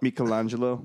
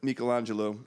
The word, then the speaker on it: Michelangelo: You gotta tell me that Michelangelo. It's pronounced Michelangelo, by the way. I'm just be real. Not Michelangelo.